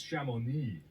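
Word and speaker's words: Chamonix: to you to you telling you how to pronounce it and you saw it it's shamoney I've been there I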